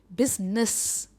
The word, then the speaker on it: business: Next आप कहोगे बहुत ईजी है, एंड में हम नेस नहीं कहते, ये है बिजनेस। देखिए डिफरेंस नेस और नस, बिजनेस, बिज पर इसका स्ट्रेस है, बिजनेस यानी व्यापार।